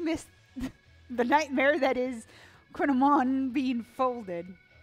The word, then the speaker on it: Kouign Amann: I need to figure out how to pronounce this thing correctly. And that's, Kouign Amann is much closer than I would ever get without looking it up.